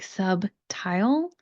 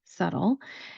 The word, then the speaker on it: subtle: If you look at it, it should be something like subtile. Again, when we look at the spelling, we're going to take out a letter and we're not going to pronounce it. In this case, the letter is B.